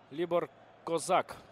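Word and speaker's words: Libor Kozák: Либор Козак выйдет на поле вместо Флокари. Опять же, можно пообсуждать ударение, но, по крайней мере, вот в транскрипции четко стоит акцент над буквой А.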